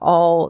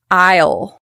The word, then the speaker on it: I'll: Isle, you'll heal, it'll wheel, they may be pronounced isle like an aisle in a supermarket. A I S L E or all.